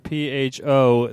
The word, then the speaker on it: pho: I recently had a conversation with some people about how you pronounce the word PHO, as in the Vietnamese noodles.